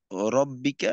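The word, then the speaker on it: ربك: আচ্ছা, এখানে শুধু রব্বিকা এই রটাকে একটু মোটা করে পড়তে হবে আর কি, আর বাকি সব ঠিক আছে।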